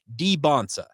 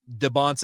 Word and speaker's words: Dybantsa: were making it very clear that it's AJ Debonsa.